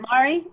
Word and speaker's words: Mari: Mari. Is it Mari? Did I get it right? Yep.